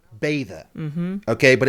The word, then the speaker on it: Beddau: It's pronounced Beddau. Mm-hmm. Okay, but it's spelled Beddau. And I learned something new. In Welsh, double D means TH sound. Mm-hmm. Kind of cool. And it's Beddau, short, not Beddau.